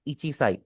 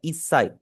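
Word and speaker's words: 一歳: अगर कोई बंदा एक साल का है वो ये नहीं कहेगा ईचिसाई। ईचसाई यू can never say that आपने बोलना है ईसाई।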